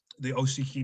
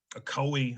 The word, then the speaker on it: Ocoee: I'm not going to go into too detail, but you have the Oshiki massacre, Ocoee, I think is how it's actually pronounced.